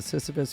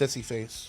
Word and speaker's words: Sisyphus: comedy room at the Sisyphus, Minneapolis, Minnesota. 2 shows, 7 and 9:30. It's pronounced sissy face. Sissy face. No, it's not.